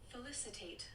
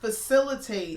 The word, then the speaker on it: felicitate: And today's word is Felicitate. felicitate. And Not facilitate. No. But felicitate. Felicitate. Felicitate. Felicity with a tape.